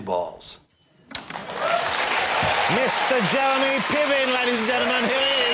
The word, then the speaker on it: Piven: Is that a long line of Pivens, or because I've never met a Piven before? You know, it's actually a Ukrainian name, and it's pronounced Piven, I believe, and it means rooster or singing cock.